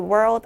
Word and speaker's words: world: 쉬어 주고요 is a new comer To The World of politics 자 지금 여기 나와 있는이 rl